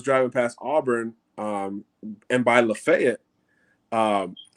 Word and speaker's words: Lafayette: I was driving past Auburn, and by Lafayette, and I was just like, Lafayette, and they're like, no, Lafayette. Lafayette. Okay. They'll tell you Lafayette quickly.